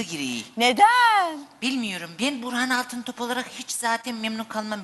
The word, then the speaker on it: Altıntop: Burhan Altıntaş. Altıntaş mı? Altın top. Benim ismim Burhan Altıntop. Niye yanlış telaffuz ediyorsun acaba? Ay unuttum ayol. Koskoca idare müdürün Nişantaşı çocuğu Burhan Altıntop'a Burhan Altıntaş değil.